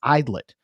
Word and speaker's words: Aydlett: In case you're wondering how to pronounce Aydlett, it's Idlet.